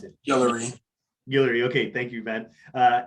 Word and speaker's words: Guillory: what is he i don't know how to pronounce it hillary okay thank you man uh and is the